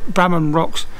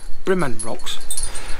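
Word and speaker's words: Brimham Rocks: that i talk around especially brahman rocks which is um sorry bremon rocks sarah keeps telling me all for pronouncing it wrong brimming rocks um yes some of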